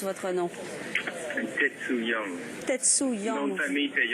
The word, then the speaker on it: Tetsu Young: Alors, dites-moi comment je prononce votre nom. Tetsu Young.